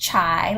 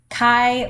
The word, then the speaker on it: chi: called a chi-square test this is not pronounced shy like your chai latte it is Chi like the sound in